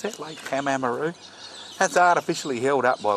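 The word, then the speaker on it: Pamamaroo: You know how to pronounce that? Lake Pamamaru.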